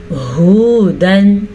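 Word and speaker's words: هُدًى: मन कान हुदन औ नस्वारा, मन कान हुदन औ नस्वारा। हा के तलफ़्फ़ुज़ का ध्यान रखना है, हा हलक के आखिरी हिस्से से निकालना है, इसको हुदन नहीं पढ़ना। अक्सर लोग हुदन पढ़ते हैं, हमने पढ़ना है हुदन औ नस्वारा।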